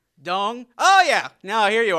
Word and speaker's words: Dong: So it's actually pronounced Dong, I learned months later.